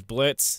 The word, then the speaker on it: Blitzø: The name's Blitz. The O is silent.